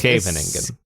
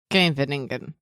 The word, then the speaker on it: Scheveningen: rather than the native Dutch sequence of the voiceless alveolar sibilant followed by a voiceless uvular fricative, or sk, as in, there's helpfully an English example here, as in Genghis Khan. The Genghis Khan. The Khan part of it? The Khan. The Genghis Khan. Genghis. Khan. Khan. So it's Scheveningen.